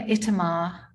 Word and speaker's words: Itamar: My name, Itamar, was given to me by my mother, and she was meticulous about stressing the final syllable with great aplomb.